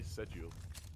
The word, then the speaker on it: schedule: We say schedule. Like we kind of roll over the SCH. Schedule. Yeah. We don't really pronounce the C.